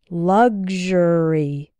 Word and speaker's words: luxury: sounds like ksh sexual and in luxury and luxurious it sounds like gzh good luxury luxurious I often hear